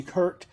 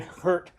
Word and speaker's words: Gert: of our drivers and here's Gert g h r t Kurt he he always corrected us so you have to kind of breathe in hurt as you say his name and I think people were calling him hurt or whatever but anyway